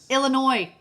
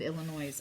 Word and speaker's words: Illinois: I say it wrong Illinois did I say it wrong chalene I'm sorry Jason just corrected me it's Illinois I said Illinois's I'm sorry I'm so